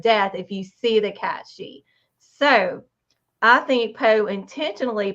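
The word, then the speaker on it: cait sidhe: in Celtic folklore there's a cat called the cat she and that is spelled c a i t s i d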